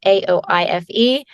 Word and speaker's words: Aoife: My name is Irish, so it's Aoife. But so it's spelled kind of crazy.